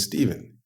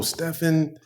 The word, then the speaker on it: Stephen: Steve and Stephen because my name the way it's spelled is spelled like Stefan s-t-e-p-h-e-n and they asked when they made fun of me they would say oh Stefan blah blah blah they call me uh like stefanovic you know that's like kind